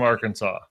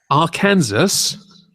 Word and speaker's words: Arkansas: scientist and being from Arkansas AR Kansas it's pronounced Arkansas hey look I don't